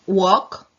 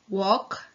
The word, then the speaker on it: walk: sink then we have walk walk come inna walk she pronounces like do pronounce like are all it's like a kind of a mixture of that is and the L is not pronounced is like weaker not